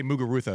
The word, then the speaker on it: Muguruza: less than her best mugar rousa I have to say mugar Rua because that's another one where I have to say her name the way that they say it in in her country but I did but